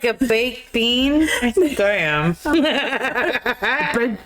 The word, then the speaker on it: Biehn: Michael Bean, homie. Is that how we say his name? Bean.